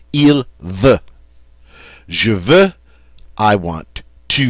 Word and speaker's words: veut: Almost the same, except it's going to end with a T, but it's pronounced the same way as the other singulars. Il veut.